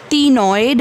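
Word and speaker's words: ctenoid: Cycloid, टीनॉइड, बेटा सी silent, टीनॉइड एंड गैनॉइड।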